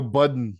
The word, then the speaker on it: Budden: Budden is it's like it's spelled the same as Biden but you replace the I with a u because number 27 in quarter four for most popular podcast was the Joe budon podcast really y that